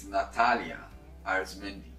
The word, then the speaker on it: Nathalia Arizmendi: Star in You, the one and only President Nathalia Arizmendi. Did I pronounce it well?